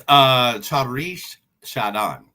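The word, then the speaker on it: Charithra Chandran: It's Charish Shadan. Okay. That's how you pronounce it.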